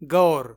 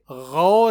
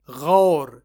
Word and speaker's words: غور: سے غور پڑھتے اور بولتے ہیں، غور، جو کہ غلط ہے۔ یہ غین سے غور ہے، غور نہ کہ غور۔ اس لیے اب ہم